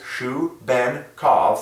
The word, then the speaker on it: Shubenkov: 3 letters, making 3 syllables, Shubenkov, 3 letters in Shu, 3 letters in Ben, 3 letters in K-O-V, that all divide by 3 individually.